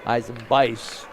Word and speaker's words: Eisenbeis: Comes Eisenbees the other way, puts up the shot with the right hand, left side, it's good. Cooper Eisenbeis. Correct pronunciation. We'll go with the game side announcer. 29-22.